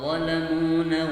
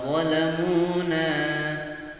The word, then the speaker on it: ظلمونا: Wa ma zalamuna walakin kanu. Ya, padahal yang benar adalah dibaca panjang.